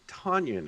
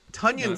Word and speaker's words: Tonyan: And I think it's Robert Tonyan, isn't it? Tonyan sounds like an appetizer you'd get at TGI Fridays or something. It rhymes with Funyun.